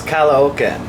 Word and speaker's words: Caloocan: to where we're going so it's kala okay that's how you say it and we're discussing right